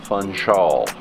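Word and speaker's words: Funchal: to Madera island the city of punch-out city of fun Shaw that's how you say it punch all took me a while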